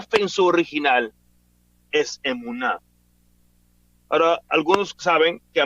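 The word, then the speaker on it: אמונה: La palabra fe, su palabra original en hebreo significa, se pronuncia emuná.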